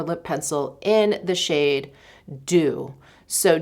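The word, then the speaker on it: Doux: don't even know how I've been pronouncing it but someone one of you corrected me thank you very much you're like it reins with who I have it on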